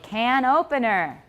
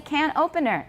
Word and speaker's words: can opener: I heard somebody say can opener, right? That's wrong. Because it's a noun and another noun. 后面的那个名词是没有重音, so don't say can opener.